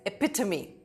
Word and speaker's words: epitome: Next up is epitome.